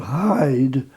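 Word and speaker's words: Heide: Yeah, well, it's a place called Hyde, H-E-I, I mean Hyde in Cheshire. Yes. But it's spelled H-E-I-D-E.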